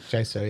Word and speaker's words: Jaisto: And that was Jaisto is I think how he pronounced it. Jaisto, yeah.